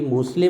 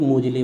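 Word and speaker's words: Moseley: Table दे हैं आपके Henry मोसले बोलते हैं कई लोग मोजले बोलते हैं। वो प्रोनाउंसिएशन है जैसा हक को पढ़ना है ना। हेनरी मोसले बोल सकते हो, मोजले बोल सकते हो।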